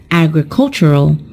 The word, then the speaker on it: agricultural: on the first syllable when we turn it into an adjective the stressed syllable is also changed and it is pronounced as agricultural so we've just talked